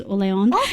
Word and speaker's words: Orleans: I mean, it's named after the French region of Orleans, which is Orleon.